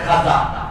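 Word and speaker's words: খাওয়াজা: খাজা ফারসি শব্দ খা ওয়াও আলিফ জিম খাওয়াজা উচ্চারণ কঠিন এজন্য সহজ ভাবে প্রচলিত হয়ে গেছে খাজা আর খিজির যে বলতেছে এই শব্দটা খায় খাদির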